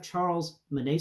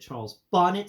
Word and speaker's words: Charles Bonnet: a patient they have Charles Monet syndrome please pronounce it Charles Bonnet syndrome and explain to them